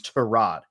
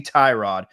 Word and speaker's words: Tyrod: he literally said, "Yeah, my name's Trod. Everyone calls me Tyrod, but it's Trod."